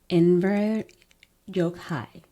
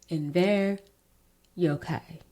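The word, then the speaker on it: Enver Gjokaj: not go and double check how to actually pronounce it. So, it's Inver Yokhai. I went and looked it up, found out how he pronounced it. in ver Yokai.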